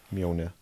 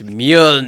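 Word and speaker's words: Mjölnir: name of Thor's hammer miona yeah correct but you didn't pronounce it correctly it's mule which alien race invaded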